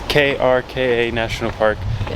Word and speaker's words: Krka: I do not think I'm pronouncing that right. It's Krka National Park. Yeah. It's supposed to have beautiful waterfalls, beautiful hiking, and everything like that. Krka.